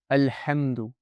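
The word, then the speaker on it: الحمد: Alhamdu. Yeah, over here you hear the lam. Alhamdu, clearly. I'm pronouncing it clearly. Why? Because the letter that comes after, the ha, it's a moon letter, Qamariyyah.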